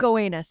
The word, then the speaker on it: Gowanus: I feel like this name is your name because I think it's called Gowanas. Mhm. And what how would you pronounce that? Goanus. Yeah, that's what I thought.